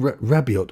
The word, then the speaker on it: Rabiot: being linked with um Adrian rabiot or rabio as they were calling him maybe the t is silent who cares um but